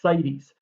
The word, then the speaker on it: CITES: And it's not cities. I didn't misspell it. I know I'm a terrible speller, but I did not misspell this word. It's CITES, Convention on International Trade in Endangered Species.